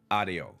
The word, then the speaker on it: ADO: the Ado bus so AIO is how they pronounce it in Spanish but if you guys don't know about the AO bus and you take